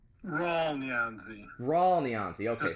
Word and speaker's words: Rawle: Whispers And that is Raley neoni now did I say that name right ra neon raw neon okay so you don't pronounce the E okay gotcha all right